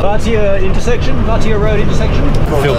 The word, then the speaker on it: Vatia: that I've been saying this all wrong it's vatia good to hear it correctly pronounced is right as well it's right and